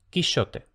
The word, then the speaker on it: Quixote: también lantellas, mientras que quisote habría sido sh no. Luego estos dos sonidos y sh se fundieron en uno solo. SH. Y ya luego este fonema unificado sh pasó a ese es el resumen del reajuste de las sibilantes que nos interesa a nosotros. Por ponerle un poco de cronología, en la Edad Media tenemos ingenioso, lantellas y quichote.